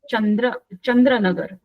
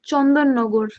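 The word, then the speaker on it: Chandannagar: On 4th April 1910, Sri Aurobindo left Chandranagar and reached Pondicherry. Ma'am, it's Chandan Nagar. हाँ, yes. वो pronunciation मुझे नहीं आता Bengali. Chandan Nagar. Yes. Chandranagar. Bengali. No. Chandranagar, correct? No. Chandan Nagar.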